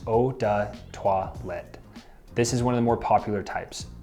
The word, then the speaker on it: eau de toilette: Following that, we have eau de toilette, which is pronounced eau de toilette.